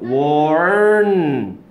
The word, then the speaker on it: warn: warn. 이런 발음이 없으니까 이런 짓을 하는 거예요.